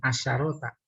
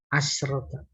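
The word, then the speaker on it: عشرة: Wahia tis'a asyrota, bukan asyarota, asyrota. Faedahnya kalau ada tak tuh maka sinnya mati.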